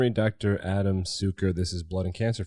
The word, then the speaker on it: Cuker: while it's pronounced at Sucher it is built C UK ER and I think you told me that may derive from the word sugar easy to remember well